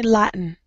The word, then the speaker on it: Latin: There's a sound I haven't taught you guys because it's a little tricky. There's a listen. I do it in my throat. Latin. Latin. Yeah, but I don't say lat. I say Latin.